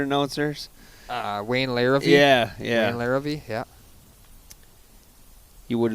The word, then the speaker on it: Larrivee: of the Packer announcers Wayne layer yeah yeah Larrivee yeah you would like a little more emphasis